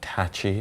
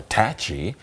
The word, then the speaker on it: Tacky: Chief Tacki Day. Yeah. You know that some people say Tachi is the proper pronunciation. Really? Yeah. So, like some historians will say tacky or tachy just to satisfy both people who I never knew that.